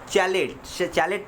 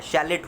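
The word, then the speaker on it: chalet: चैलेट नहीं होता है, शैलेट होता है, शैलेट होता है।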